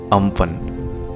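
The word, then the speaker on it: Amphan: इस साइक्लोन को इस तरह से प्रोनाउंस करते हैं, ठीक है, अम्फन।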